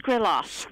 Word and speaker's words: Skriloff: trouble pronouncing your last name how do you pronounce your last name skrillos Grill off that's great wonderful now the name